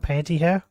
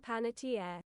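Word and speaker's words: Panettiere: Is it not panty hair?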